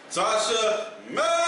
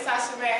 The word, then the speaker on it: Tasha Mack: And joining me tonight is my lovely co-host, Tasha May. Hey, y'all already know it's Tasha Mack. Holla back when you say my name. Make sure you say it completely. That's Tasha Mack.